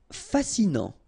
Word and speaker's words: fascinant: Fascinant. Final T not pronounced, so you get this A-N. En, non, fascinant. Imaginaire.